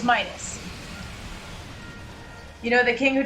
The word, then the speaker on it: Midas: Because I'm playing God of War, one of the portable titles, how do you guys pronounce Midas? It's Midas.